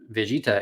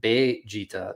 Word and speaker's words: Vegeta: italian spaghetti ale vongole there are no v's in the japanese language uh so they have